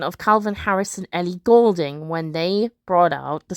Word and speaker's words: Goulding: So phonetically speaking, in terms of pronunciation, Ellie Goulding does in fact have the colour gold in her name.